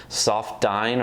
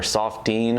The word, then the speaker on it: Soft-Dine: about the Paul Brown soft dine or soft Dean however you prefer to pronounce it this is basically like